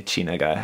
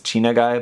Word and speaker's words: Chinagguy: mean they're Japanese and they're looking at it in Japanese and his chena guy but I mean they have to know how China is spelled and like guy as in like El taco it's in like a dude it's just kind of